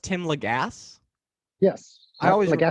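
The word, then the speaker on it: Tim Lagasse: my friends pamar sierra and marty robinson and tim legass all worked on as well so so it's pronounced tim legasse yes i always say i always no it's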